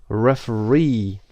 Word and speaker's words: referee: referee is number one referee the third syllable is stressed referee number two review